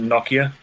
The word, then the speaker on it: Nokia: In the UK, we pronounce it Nokia.